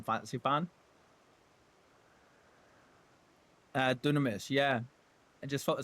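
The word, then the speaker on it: Dynamis: Uh Dunamis. Yeah, I just felt the same. Well, it's it's read as Dynamus, right? They all pronounce it as Dunamis.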